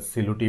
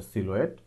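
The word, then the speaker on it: silhouette: আমি যদি গুগলে এইটার যে উচ্চারণ, যেটা অনেকে সিলুটি বলে বা সিলুয়েট বলে, এটাকে যদি গুগলে আপনি সার্চ করেন, এটার অরিজিনাল উচ্চারণটা হচ্ছে সিলুয়েট।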